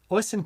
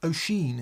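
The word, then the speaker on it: Oisín: And Oysten Cook says hi from sunny London. Yes, it's been a beautiful day today. O'Sheen is how you O'Sheen? pronounce that. Yeah. Not Oysten. No, I had to.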